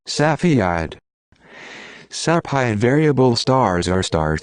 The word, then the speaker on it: Cepheid: Cepheid is actually pronounced like Cepheid.